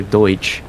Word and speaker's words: Deutsch: and then you say your home language is Dutch or Deutsch is technically how they pronounce it and you speak